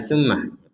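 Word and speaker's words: ثمّ: Kalau tas di atasnya mim, kita menekan plus ada dengungnya. Tumma.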